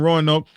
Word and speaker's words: Roanoke: Roanoke? Because you could say that a whole bunch of different ways, Roanoke or whatever. But over there in Roanoke, that's how I say it.